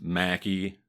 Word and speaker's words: Machi: to that effect, but I know that the family has used Machi. They had a bar called Machi's, for example. So I'm just going to use that pronunciation. If somebody wants to ding me on it, go for it. There's a reason I'm pronouncing it the way I am. So this isn't just me using my Midwest accent to read Italian.